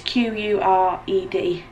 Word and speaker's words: Qured: It's called Quered, and I think that's how you pronounce it, Quered. It's Qured.